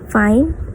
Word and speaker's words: fine: or beginning or capo fine or pronounced as fin indicates the end of composition.